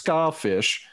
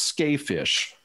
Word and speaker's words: Skafish: it looks like it's skyfish and it's not a ska band but it's pronounced ska fish so sure it's not